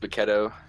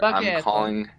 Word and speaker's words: Bacchetto: Where are you calling from, Bachetto? It's pronounced Bacchetto. It's Italian, so just a heads up there. Bacchetto.